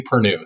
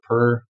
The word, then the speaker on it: Perrenoud: It's Anthony Perrenoud. So, and I just pronounce it Perrenoud, the new guy.